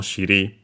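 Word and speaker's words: 尻: Yeah, literally it combines the term for buttocks, bottom, shiri.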